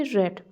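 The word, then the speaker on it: read: है ही हैज रेड इसको हम पढ़ेंगे रेड क्योंकि इसका कोई चेंज नहीं होता है हैज हैव के साथ हमेशा v3 लगाना होता है तो रीड का तो थर्ड फॉर्म भी रेडी होता है स्पेलिंग ऐसे ही होता है इसको पढ़ते हैं रेड ही हैज रेड अगर नेगेटिव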